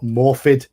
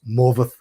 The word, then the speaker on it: Morfydd: pronounce her name, because every American person I've heard pronounce her name says Morfydd Clark, and that is completely wrong. Completely wrong. Her name is not Morfydd, even though it's Morfydd. You do not pronounce Morfydd as Morfydd at all. It's pronounced Morveth. Morveth. F is a V, Y is a U, and double D is th.